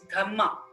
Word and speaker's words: dhamma: ashoka's gamma in pali in pali language dharma is pronounced as dhamma d-h-a-m-m-a so through his dhamma